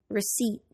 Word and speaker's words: receipt: silent n Autumn condemn the silent P psychology receipt the silent W writing